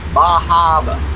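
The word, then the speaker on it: Bar Harbor: Cat Ferry from Yarmouth to Bahaba. Oh, you gotta say it like that too, don't you? There are no R's. No. Not around the Northeast.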